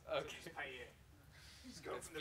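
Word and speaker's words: Paillier: The key to French is don't pronounce anything you absolutely don't have to pronounce. Okay. So Pilier.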